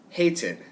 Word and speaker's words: hated: How about hated, hated. It ends in the T sound. Hate, right? So we're going to add id.